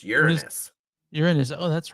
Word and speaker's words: Uranus: How do you pronounce Uranus? It's like that. No, it's not. Uranus? I don't know. No, it's Uranus. Uranus.